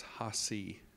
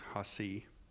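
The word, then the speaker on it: Hacee: So the verbalization of his name is Hasi. So that's spelled H-A-C-E-E, Hasi.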